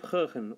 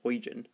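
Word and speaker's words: Huygens: I think, by the name of Hoehn, or as people very often mispronounce, Huygen, if you're American. But anyways, Hoehn.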